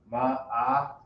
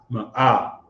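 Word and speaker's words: מאה: 100 again is Ma'ah. Ma'ah. The letter Ma, the letter Ah, and the letter Ha. So it's still pronounced Ma'ah. Right. M-A-A-H-H. M-A-A-H, if you want to write it like that. M-A. Ma'ah. You just draw it out just enough.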